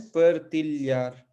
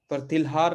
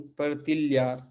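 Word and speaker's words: partilhar: अलग नहीं पढ़ना है, एल और एच मिलकर एक स्वर बनते हैं, एक अक्षर उच्चारण बनते हैं, उनको हम क्या कहेंगे, ल्य। तो ये क्या है, परतिल्यार, है ना? परतिल्हार नहीं, परतिल्यार, ल्य, है ना?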